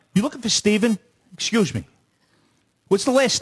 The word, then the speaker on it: Stephen: south in general but you can't spell stephen with a ph and pronounce it stephen like him will go stefan and i lose my